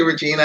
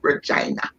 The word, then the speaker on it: Regina: always causes a challenge you say regina and i know everybody around the world says regina but my father gave me my name and i loved my name i pronounce it regina yes okay i love